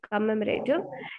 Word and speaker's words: commemorative: could you please tell me could you please pronounce this word comment you commemorative commemorative exactly commemorative and here uh you just struggled a bit